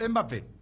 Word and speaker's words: Mbappé: Habló Mbappé, que primero aclaró que su apellido es Mbappé, no es Mbappé. Porque los españoles le dicen Mbappé, le ponen la E.